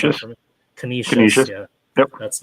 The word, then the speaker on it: Canisius: Prep at McDowell, and Erie at can you pronounce that for me? Canisius.